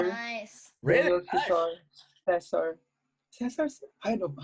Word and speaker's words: Caesar: Cesar. Cesar? I don't know. How do Caesar. you pronounce Daniel it? Like Caesar.